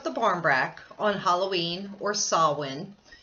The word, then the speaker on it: Samhain: barmbrack on Halloween or saw one saw one is spelled Samhain you'll see that in